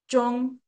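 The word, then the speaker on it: 中: And then another one that is very similar to Korean is Jong.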